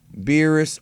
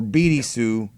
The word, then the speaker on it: Beerus: On a side note, Bills is an incorrect translation of his name. Beers, Beerus, or Birisu is the correct way to say it.